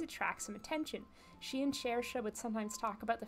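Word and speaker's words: Saoirse: She and Shersha would sometimes talk about the fairies. Shersha will talk about fairies to anyone who will listen. I know how to pronounce Shersha because of Shersha Ronan.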